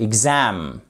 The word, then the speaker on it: exam: présence de cet apostrophe et donc on a la seconde syllabe qui accentué par la première c'est pas exam c'est exam c'est très très important